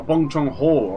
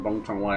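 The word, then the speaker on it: Bong Joon-ho: Oh, Bong Chong Ho. Okay, I was saying Bong Chong W.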